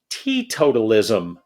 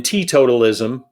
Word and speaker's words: teetotalism: The T in teetotalism, even though it's spelled T-E-E, that's so you pronounce the letter T separately, has to do with temperance.